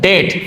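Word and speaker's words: debt: সর্বশেষ 15 দায় কি আছে দেখো সর্বশেষ আছে ডেট। যদিও উচ্চারণটা হবে ডেট। বানানটা কি? ডিবিটি। এখানে বিটা উজ থাকবে।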